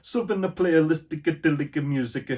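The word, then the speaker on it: Southernplayalisticadillacmuzik: Yeah, you have to say it like an Italian. Southern Playlistic Music.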